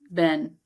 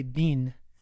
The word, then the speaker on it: been: I pronounce it Ben, but I've also heard people say bean, like how you been.